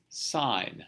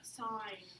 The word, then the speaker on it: sine: Sine. Sign. Okay. The SIN is an abbreviation for the word. It's spelled SINE.